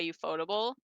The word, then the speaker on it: Ufotable: I'm like, Ufotable Um sounds so better. It slides off the tongue. UFO table sounds weird. yeah, Ufotable sounds really weird.